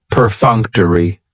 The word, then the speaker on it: perfunctory: very cool word perfunctory perfunctory has four syllables and the stress is on that second syllable that funk per Funk toai that third syllable has the schah and it's going to end with that long e sound perfunctory perfunctory if something